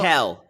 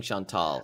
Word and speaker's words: Chantel: So we know Chantel. You keep saying Chantal. I like the way it sounds. Yeah, but I want to say her name.